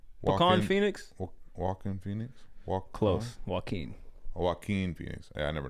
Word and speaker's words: Joaquin: Take the all right, bitch, first one is Wakan Phoenix. Who? Is that a dessert? That's an ice cream? Wakan Phoenix? Wakan Phoenix? Close. Joaquin.